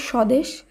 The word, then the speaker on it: স্বদেশ: ব ফলা লুপ্ত হচ্ছে একইভাবে স্বদেশ এই শব্দে দন্তস এর সঙ্গে ব রয়েছে প্রথম বর্ণে শব্দটি শুদ্ধ উচ্চারণে কিন্তু ব ফলা বিলুপ্ত হচ্ছে একইভাবে জ্বালা শব্দে প্রথম